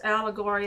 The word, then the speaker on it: allegory: An allegory is a figurative, I always think of the word, it says allegory, and the word ori, it's a story. It rhymes with story.